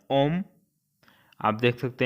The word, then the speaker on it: homme: ये एच से है लेकिन यहाँ एच को प्रोनाउंसिएट नहीं करते हैं, वो एक वॉवेल की तरह काम करता है, तो इसको पढ़ा जाता है ओम।